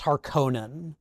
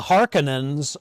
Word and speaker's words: Harkonnen: I don't like the pronunciation of the last name Harkonnen. To me, it's Harkonnen, the Harkonnens.